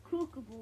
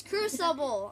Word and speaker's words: Crucible: said in the video it's called kookabul or whatever you said that's not how i said i said cruel cubicle critical there you know i can say it right it's crucible i know that and